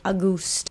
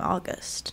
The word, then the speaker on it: August: it on the screen the narrator would say AUST and sometimes it sounded like she was just saying a goose why was that decision made why was a goose the the direction that was chosen not August there are people that are named August that you pronounce their name August not AUST um and